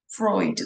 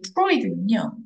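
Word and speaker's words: Freud: 자, 그 다음에 psychologist 시그먼드 프로이드. 우리는 프로이드라고 발음을 하죠. 그죠? 다르게 발음할 수도 있습니다.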